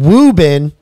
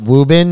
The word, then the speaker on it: Woburn: this is actually interesting wubin dude I know how to pronounce it wubin it's you know it's it's spelled Woburn if anybody's from up